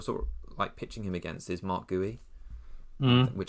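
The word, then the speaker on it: Guéhi: the person you're sorting him against is Mark Gooey, which I read is how you pronounce his name earlier, which is funny.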